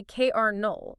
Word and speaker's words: colonel: It starts with c o l o. There is literally no letter r anywhere in the zip code of that word. Not a single one. And yet we say kernel.